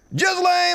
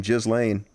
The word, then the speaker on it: Ghislaine: Ghislaine Maxwell, and that's how you pronounce her name, Ghislaine. I'm almost 100% certain of that.